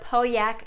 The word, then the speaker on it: Pauillac: Next, another chandelier that I'm obsessed with is the Pauillac Chandelier, and yes, that is how you pronounce it.